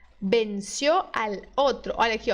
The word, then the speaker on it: venció: Você tem que dizer venció. Venció. Tá vendo? O.